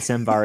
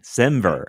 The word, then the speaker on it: semver: would have ever said svar in the first place I pronounce a lot of things wrong so maybe I don't know no it's semantic versioning sver that makes so much more sense than svar I have no idea